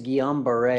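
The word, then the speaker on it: Guillain-Barré: I'm just going to the pronunciation is Guillain-Barre.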